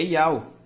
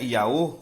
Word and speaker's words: Iau: Porque o nome do Criador é Iau. Os escribas, eles preservaram o nome do Altíssimo para os hebreus que falavam grego. Eles não mudaram a pronúncia. Certo? Então o nome do Criador não é Iaô. Por quê? Porque a letra ômega, ela não tem som de O. Ela tem som de O longo.